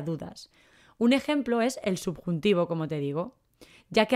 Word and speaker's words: subjuntivo: un ejemplo es el subjuntivo como te digo ya que a veces la b no la pronunciamos mucho se escribe subjuntivo subjuntivo